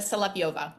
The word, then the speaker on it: Solovieva: give it to me it's a salop yova it's actually it's been misspelled by Immigration Services many years ago so no native speaker of English has any chance in hell of ever pronouncing it correctly oh wow okay so